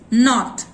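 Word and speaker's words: knot: Knee, knife, नॉट, के होते हुए भी के का साउंड क साइलेंट है।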